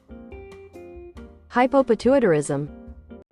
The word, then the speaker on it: hypopituitarism: It and how the do you pronounce this? Hypopituitarism.